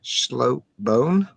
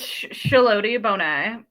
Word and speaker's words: Schlote-Bonne: to go with Schllo bone uh close It's sheld bonet. It has like a bunch of unnecessary like extra pronunciations on the e.